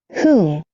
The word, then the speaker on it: who: who, Agora é o contrário. Não vou pronunciar o W, vou pronunciar o H.